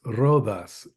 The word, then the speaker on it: Rodas: before I keep going it's a d so it's rhas rhas okay um we uh